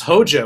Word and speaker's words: hoja: The H is silent, and the J sounds like an H.